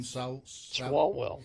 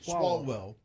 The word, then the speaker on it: Swalwell: Swalwell. Swalwell.